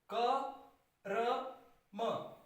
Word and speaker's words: कर्म: कर्म, क र म, कर्म। यहां पर इसका उच्चारण इस प्रकार से है।